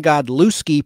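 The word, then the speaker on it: Godlewski: spelling of Christian k-r-y-s-t-i-a-n Christian godlowski g-o-d-l-e-w-s-k-i Christian God looski provided the character on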